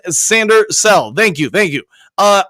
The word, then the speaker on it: Sainristil: correct with that Bailey Mike's name is pronounced sander cell thank you thank you